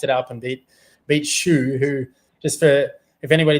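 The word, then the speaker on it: Hsu: up and beat beat Shoe who just for if anybody doesn't know who Shoe is, H S U his name is spelled from Chinese Taipei.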